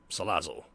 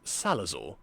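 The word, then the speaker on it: Salazzle: And I voiced the character Riley, whose antics would piss off his friend and especially his master Salazle, or as I mispronounced it as Salazor at the time.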